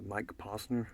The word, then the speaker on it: Mike Posner: It's a Mike Posner, I think is how you say it.